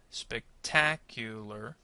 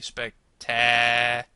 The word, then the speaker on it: spectacular: to remember is that syllable stress is not about how loud or soft the syllable is going to be. It's actually about how long or how short. So, in this case, what we're going to try to do is make the stress syllable longer than the other syllables.